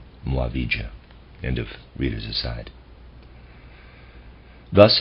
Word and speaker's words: Muavija: uh readers aside muavija is spelled m-u-a-v-i-j-a Mo avija end of readers aside